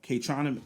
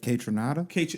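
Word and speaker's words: Kaytranada: But number 3 is K&A on K-Troname. I always say it, K-Troname. Rich, you know how to say it, right? K-Tronada?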